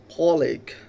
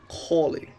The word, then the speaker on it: colleague: So uh, I'd like to talk about another word that is colic, colic, colic. So when we say this word, we are make mistake when we pronunciate this word, that is colic. The actual pronunciation may be colleague, colleague, co-worker, and another